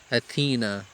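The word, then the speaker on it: أثينا: اور یونان کا دارالسلطنت ایتھینز ہے، جس کا عربی تلفظ آپ کریں گے اتھینا.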